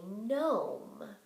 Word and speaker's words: gnome: for W R or silent G or GN I think you've figured out the pattern that would go in G n because that's the only